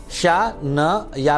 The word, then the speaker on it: शनये: ओम प्रांग प्रींग प्रौंग शह शनये नमः, शनये नमः, शा न या पे एक ही मात्रा, शनये नमः। उच्चारण का खास ध्यान दिया करिए।